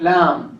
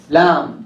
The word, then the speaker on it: lamb: Like lamb, right? Lamb, right? It has B at the end, right? So this B is silent.